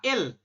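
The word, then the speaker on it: 읽: Dibacanya berarti ya il. Ya, tulisannya ilek. Ya, ilek. Ini kan tulisannya ilek begitu. Kita bacanya il.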